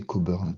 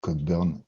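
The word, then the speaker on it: Cockburn: Et je vous propose de commencer directement par Alister Cobern, donc l'auteur de l'architecture hexagonale prononcer Coburn parce que Cobburn, c'est pas très joli.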